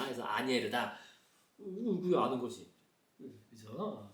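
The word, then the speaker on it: Asnières: 아니에르, 그죠? 아스니에르가 아니라 S는 묵음이다. 그래서 아니에르다.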